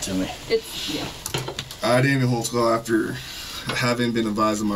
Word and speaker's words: Holtzclaw: As a demonstration here, I'll let your name there cuz I don't even know how to spell it. I can How do you say your name? Daniel Holtzclaw. Holtzclaw.